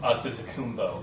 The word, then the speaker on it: Antetokounmpo: It's pronounced, that name, by the way, it's pronounced Antetokounmpo.